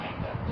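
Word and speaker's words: either: अब बात करते हैं आइदर। दोस्तों इसका दो उच्चारण होते हैं, इधर भी कहते हैं और आइदर भी इसका प्रोनाउंसिएशन होता है।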